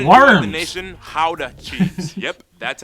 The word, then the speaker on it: Gouda: nation, Gouda cheese. Yep, that's how you pronounce it, guys.